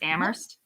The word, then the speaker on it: Amherst: So the H in Amherst is silent. So it's Amherst.